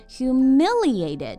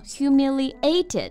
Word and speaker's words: humiliated: my life Yes, exactly 但是我们读这个单词的时候呢要注意重音啊在第二个音节 humiliated 不要读成 humiliated 经常有听到同学这么读啊 Yeah, right OK,